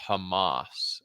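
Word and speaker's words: חמס: that word wrong if in the Hebrew is pronounced Hamas and that may be a curse right there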